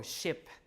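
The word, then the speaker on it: scip: How do you pronounce SC in Old English again? SH, right? So ship.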